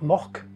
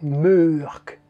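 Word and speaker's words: Mørck: je crois bien, hein, le O avec une barre, ou la barre comme ça. Je vais essayer de vous le mettre là. Ça se prononce E. Donc, l'inspecteur Mork, c'est l'inspecteur Murk.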